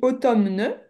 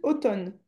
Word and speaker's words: automne: Alors ça s'écrit automne mais ça se prononce juste automne. Est-ce que tu vois ou pas ? Oui. Essaie de répéter. Automne. Non. Automne. Automne. Automne. Automne. Je prononce pas le N en fait.